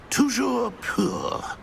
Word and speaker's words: Toujours pur: And, of course, as Master knows, in French.